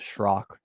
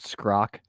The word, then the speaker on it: Schrock: My last name is Schrock. Schrock. So there's the C in there, but between the S and H throws people off. I've been called Scrock, Shock, everything but the right thing.